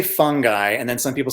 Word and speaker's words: fungi: You could say it either way. Okay. The pronunciation is actually, I think, technically fungi. Oh. But lots of people say fungi in different parts of Europe, fungi. And as Paul Stamets said